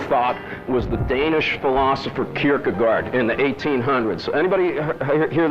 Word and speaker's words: Kierkegaard: least in Western thought, was the Danish philosopher Kierkegaard in the 1800s. Anybody hear the name? I don't know, how do you pronounce it?